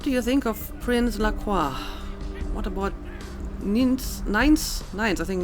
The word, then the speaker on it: LaCroix: Well, so apparently the prince's name is pronounced Lacroix. I think that's the first time they actually spoke his name. I always went for like a more French pronunciation, Lacroix, but I guess it's Lacroix.